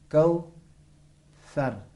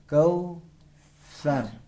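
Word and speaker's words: كوثر: वो ये कि ज़बान बाहर निकाल कर फूंक मारना है। कौ सर, कौ सर। पढ़े आप। कौ सर।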